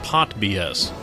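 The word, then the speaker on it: PotBS: toted and of used initialism can be pronounced pot BS formerly under development by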